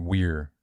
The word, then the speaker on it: vir: It's vir, I mean, you can pronounce it weir, too.